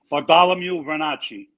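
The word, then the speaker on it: Bartolomeo Vernace: Bartholomew Vernacci.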